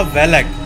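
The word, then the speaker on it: Valac: वो एक्चुअली में था जिसका नाम था वी ए एल एस C pronunciation से था बालक बट स्पेलिंग में लास्ट में सी था और बहुत पुरानी 15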